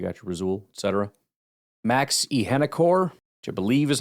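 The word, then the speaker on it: Iheanachor: Max Ihenekor, which I believe is how you pronounce it. I'm not positive. Wait. Arizona State's massive right tackle, pronounced Ihenachor. They have a chore.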